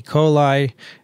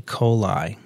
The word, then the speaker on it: coli: coli. Really? They said it should be pronounced E. coli, because it's Latin, after all.